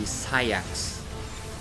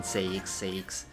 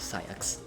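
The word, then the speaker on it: Saïx: eventually play Final Mix and heard the English pronunciation, I forgot. And turns out to be Sayax, which honestly sounds weird. But that's the actual pronunciation of his name. I'm sorry. I kept saying Saix. It's actually Sayax.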